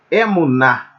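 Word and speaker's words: אמונה: Então, como o segol tem a pronúncia de como na palavra pé, então vocês me desculpem, a pronúncia correta é mais aberta.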